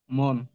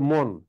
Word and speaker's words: মন: আমাকে বলো দেখি, এটা মন। এই তো মন। তুমি কি মনো পড়বা? মনো, না স্যার। ওই যে শেষের অ কাট হয়ে গেছে, এটা উচ্চারণ করা যাবে না।